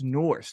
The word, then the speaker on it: Nourse: Nourse, your last name is pronounced Nourse, right? Yep.